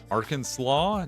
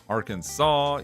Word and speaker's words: Arkansas: Arkansas. No. Arkansas. Yes. Even though it's ar Kansas, the way it looks, that's not how anyone says it.